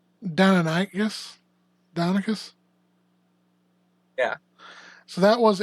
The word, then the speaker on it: Deinonychus: Yeah, that's Deinonychus or Deinonychus, depending on how you say it.